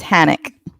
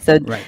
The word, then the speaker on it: Hanek: It's Hanek. Yes. Hanek, so think of panic with the ick at the end.